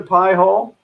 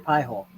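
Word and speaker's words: Pi-hole: me yeah if you guys haven't looked into pie hole and that's how it's spelled p i h o l e pie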